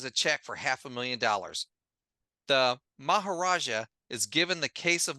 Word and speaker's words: Maharaja: If Batman doesn't comply, then the Maharaja, or the, I heard, am I pronouncing his name right? The Maharaja, yeah, sure.